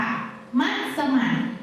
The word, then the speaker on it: มัสมั่น: คะ อีก คำนึง ค่ะ มัสมั่น ออก เสียง 3 พยางค์ ค่ะ มัสมั่น มัสมั่น เป็น ชื่อ แก